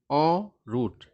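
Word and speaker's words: en route: एक वर्ड है ऑरूट। ठीक है ना? इसका उच्चारण अजीब तरीके का है।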